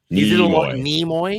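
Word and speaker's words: Nimoy: It's a long e by the way. Nemoy Nemoy.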